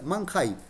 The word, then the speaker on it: Mannheim: Se pronuncia Mannheim.